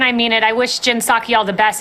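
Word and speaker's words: Psaki: name up but it's saki the the p is silent it's jen saki and her circle backs from the press i've said before and i mean it i wish jin saki all the best it's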